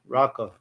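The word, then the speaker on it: raca: That is the one word that is and actually it's it's pronounced rocka raqa.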